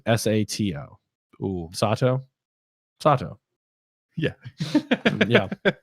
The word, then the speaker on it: Sato: Soto is Sato.